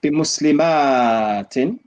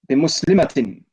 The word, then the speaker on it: بمسلمة: Yeah, we don't say بمسلمات. There's no alif. Yeah. How do we say Do you that? understand? Yeah, I do. We don't elongate and say بمسلمات without the ma part. بمسلمة.